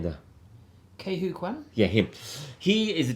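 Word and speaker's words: Quan: How do you pronounce that name there? Kwan.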